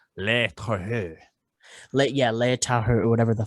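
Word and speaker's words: Le Tueur: It's Le Terreux.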